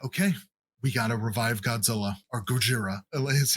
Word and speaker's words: Godzilla: Because I feel like there was like this online discourse about how like, well, the Japanese pronunciation of Godzilla is this, and you get Godzilla and Gojira in the same fucking movie.